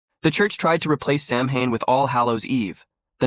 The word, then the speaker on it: Samhain: Halloween began over 2,000 years ago with the ancient Celtic festival called Samhain, pronounced Samhain.